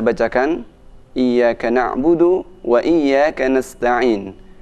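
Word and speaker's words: نستعين: Nah, selanjutnya saya bacakan Iyyaka na'budu wa iyyaka nasta'in. Perhatikan pada huruf sin nasta'in, jangan sampai dibaca monyong nas, tapi nas.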